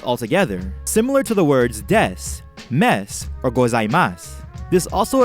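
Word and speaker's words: です: Why do DESU and MASU sound like des and mas? When you say these words, you actually pronounce the vowel u, but the vocal cords don't vibrate enough, and you can't hear the sound u well.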